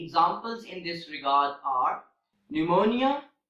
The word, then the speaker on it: pneumonia: of P and n in these words the letter P is also silent and the examples in this regard are pneumonia pneumatic pneumonia and pneumatic